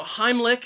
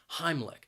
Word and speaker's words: Heimlich: person the heimlich maneuver now heimlich has two syllables and the stress is on that first syllable heimlich and i think that second syllable even though it's spelled with a c h it's not a ch sound it is more of a k k sound heimlich and maneuver has three